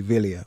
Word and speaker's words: Wilier: my defense here but the pronunciation police have been on and in Italian it would be Wilier wouldn't it correct we